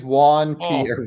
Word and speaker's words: Juan Pierre: Keep in mind, it's a rap song, so the last name is going to rhyme with snare.